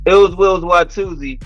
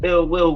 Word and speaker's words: iLLzWiLLz: it's iLLzWiLLz, and that's ill will with two Z's, and it's spelled iLLzWiLLz.